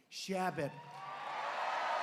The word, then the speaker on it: Chabot: Congressman Steve Chabot. Great guy. Come up, Steve. Come up, Steve. You pronounced it right.